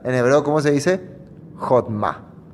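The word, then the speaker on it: חכמה: Jodma. Jodma.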